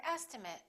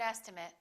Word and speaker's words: estimate: i really appreciate it remember ate if it's a verb and it if it's a noun or adjective let's learn